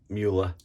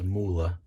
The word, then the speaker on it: Mühle: mula now i know people will call it you know the mueller but i know from watching the videos in german it's moolah so but and the birch